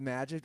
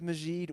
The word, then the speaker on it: Majid: go to the ballpark for the record i love how his name is technically pronounced magic we've got goldberg says majeed we've just owned it it's michael mageed i thought it was a majeed technically pronounced majeed and then you know got americanized for magic but either way i call